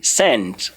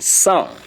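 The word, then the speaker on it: cent: Please, some people do say send. It's not send. If I am to be you, I will look at it from S-A-N, sound. It's not even S-A-N as in sun, but S-A-N as in sound.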